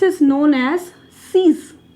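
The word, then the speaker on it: six: 6 is known as seize. 6 की spelling same ही रहती है, ये अच्छा पॉइंट है इसका।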